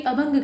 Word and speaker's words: अभंग: तो पहले आप देखिए अभंगा लिखा हुआ है, लेकिन उसको हम कहते हैं अभंग। असल में जब आप अंग्रेजी में लिखते हैं ना, तो हर अल्फ़ाबेट के आगे उसके पूरे उच्चारण को करने के लिए, यानी पूरा अ का उच्चारण हो, इसके लिए ए लगाते हैं। तो वही मात्राएं यहाँ आ गई हैं। इसे अभंग कहा जाता है।